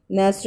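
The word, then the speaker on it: knock: नॉक मतलब खटखटाना, इसमें भी के की साउंड साइलेंट है, एन से स्टार्ट हो रही है।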